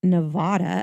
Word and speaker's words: Nevada: June 12th, Comstock silver lode was discovered in Nevada. Apparently, it's Nevada. Yes, I've heard it pronounced that way.